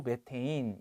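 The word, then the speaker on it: methane: 좋겠다 근데 같은 말이에요 메탄을 영어식 발음으로 매 테인 이라고 한다 자 그래서 3월도 맞는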